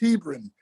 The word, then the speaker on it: Hebron: It's pronounced Hebron.